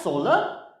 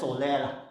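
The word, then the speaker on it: SOLER: now acronym s-o-l-e-r okay gonna pronounce it as solar we can also pronounce it as solaire whichever that you prefer so s stands for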